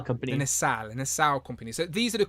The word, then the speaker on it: Nacelle: Because I pronounce it wrong. The Nacelle company. The Nacelle company.